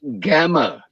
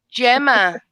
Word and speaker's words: Gemma: Yeah, It's pronounced Gamma. No, it's Gemma. It's Gemma.